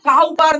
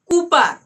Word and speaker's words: Cowper: डब्ल्यू पी ई आर ए माने किु काऊपर न है ए के बोल दिया काऊपर को काऊ भाबे एटा कूपर प्रोनाउंसिएशन की कूपर विलियम कूपर ठीक है ए बार